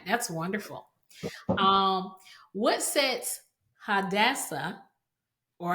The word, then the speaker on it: Hadassah: Um, what sets Hadassah, or how do you say it? How do you say it? Hadassah.